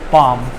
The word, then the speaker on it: palm: For example, you can take lamb, palm. So see, in these 2 words, L is silent. I mean, in the second word, L is silent, and in the first word, B is silent.